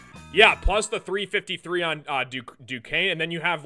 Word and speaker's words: Duquesne: Duquesne is how you say it. Yeah, well, when I first saw the team, I'm like, how do you say it? Is that DeQuincy?